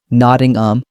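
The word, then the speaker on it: Nottingham: Noddingham, Noddingham. Notice how the ham becomes soft and quick. Say them with me slowly first. Bournemouth. Noddingham.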